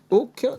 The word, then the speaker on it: OAK: Aujourd'hui, nous avons un invité de marque, Nicolas Pazzetti, CEO de Hawk, qui signifie One of a Kind. Est-ce que j'ai bien prononcé tout ça ?